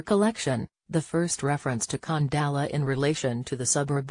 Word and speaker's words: Khandallah: From his research, the correct pronunciation should be Khandallah, with a pronounced H.